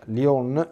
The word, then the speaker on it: Lyon: il Concilio di Lyon tutti i dati dicono Lione maglione in francese a casa mia si pronuncia Lyon Quindi è meglio essere